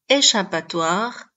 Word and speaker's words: échappatoire: prononcé que tandis que dans le mot échappatoire les lettres ch sont prononcées che d'un côté il faut